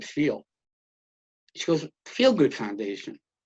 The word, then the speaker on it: Feal: she goes what's your last name i said feel she goes feel good foundation like that and